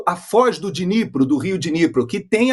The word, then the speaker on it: Dnipro: Provavelmente, alguma área desmilitarizada será negociada ali a leste do rio Dnieper, ou Dnipro, como se fala hoje em dia.